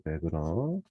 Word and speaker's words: Wegner: 자, 그러면 우리 카페에 제가 한스 베그너 이거 왜 W인데 베그너라고 있냐면 이게 독일어 발음이 돼서 그래요. 여러분들 독일어 배운 사람 있나요? 없나요? 독일어에서는 이거를 W를 비읍으로 읽습니다. 그래서 폭스바겐 있잖아.